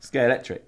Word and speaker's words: Scalextric: Scalextric. Scalextric. Scalextric. Scalextric. Scalextric. Oh, Lex. Scalextrics.